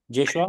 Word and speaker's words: Joshua: Am I pronouncing your name correctly? Joshua?